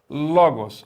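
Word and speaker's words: λόγος: agudo na penúltima sílaba exemplo veja comigo palavra logos separei aqui as sílabas logos a última sílaba é essa né gols a primeira sílaba ló logo os o que é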